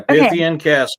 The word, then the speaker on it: Pythian Castle: Is it the Pythian Castle? Is that how you pronounce it? Yeah, Pythian Castle was built by the Knights of Pythias in 1913.